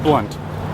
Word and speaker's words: Blount: Okay, so here's the Blount Mansion. It's pronounced Blunt, so that's why I